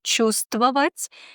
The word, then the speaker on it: чувствовать: Например, в слове «чувствовать» мы не слышим букву «в».